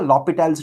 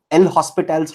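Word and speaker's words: L'Hôpital: Some people also call it as L'Hospital's rule, but the appropriate French pronunciation of this is L'Hopital, right?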